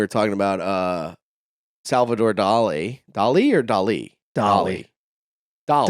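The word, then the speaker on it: Dalí: say salver do Dolly it is Dolly I just looked up the pronunciation doly yes no fine see I was right it's Dolly okay so Sal do look up YouTube when they say his name um doly see Salvador Dolly it's not Dolly but it's d a a dole e is how they have the pronunciation which makes me feel like you'd be Dolly Salvador Dolly what do your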